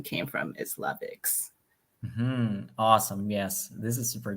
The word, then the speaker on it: La Vix: And do I even pronounce it correctly? I say Lavix. Yeah, it's Lavix.